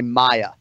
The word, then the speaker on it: Maia: Hey, give me the two syllables, just my, let me hear you say Maia. Maia? Damian Maia?